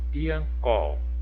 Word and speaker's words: Piancó: rimando com letra A, piancó, piancó. Ó, prestem atenção na dica. Piancó, qual que é a última sílaba tônica? O có, né? Piancó.